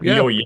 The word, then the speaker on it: Jojje: Am I pronouncing it right? Yeah, Yeah, Jojje. perfect.